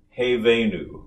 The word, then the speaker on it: Hevenu: a it's just like you were to say hey as in hey hey there or hey is for horses and i've put it in a yellow square because hey they knew the first two syllables of the first word are it's i i it's the same vowel hey they knew go ahead and say that hey they knew uh-huh it's an actual diphthong so you have two